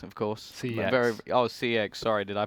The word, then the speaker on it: CEX: But moving on, we are going on to Fish versus Sex, of course. CX. CX. Sorry, did I pronounce that wrong?